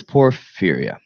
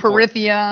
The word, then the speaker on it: porphyria: So what is porphyria? First thing, I had a really hard time pronouncing it. Yeah. I was saying like por, like Speech. porphyria. Porphyria. It's port. Yeah, I was saying Porithia.